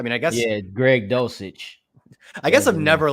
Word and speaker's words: Dulcich: know Albert okue uh Greg dulcich the first C is uh s it's dulcich um I I think I mean I guess yeah Greg dosage I guess I've never